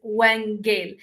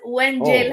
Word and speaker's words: Wongel: okay let me um the way you say my name is W Gail the reason why I'm correcting you is because W Gail has actually a different meaning in my country and it's not a good translation so W I know